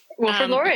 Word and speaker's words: Wilfrid Laurier: the professor of sport and exercise psychology at Wilfrid Laurier. Mm-hmm. Is that how you say it? Yeah. Wilfrid Laurier, you got it.